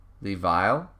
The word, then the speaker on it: Lev: So, Levi. Wait, so I just say Levi? Or you pronounce my name like Levi. So, Levile. Like I add the L on the end, like Levile.